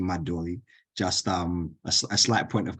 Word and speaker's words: Madovi: I know depending on who you are and how you pronounce it, some people pronounce it Madovi, but the correct pronunciation is actually Madovi.